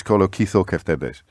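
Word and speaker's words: κολοκυθοκεφτέδες: to point out that I missed a syllable out of the Greek word for courgette or zucchini fritters, which is kolokithokeftedes. Kolokithokeftedes. I missed out the kitho in the middle.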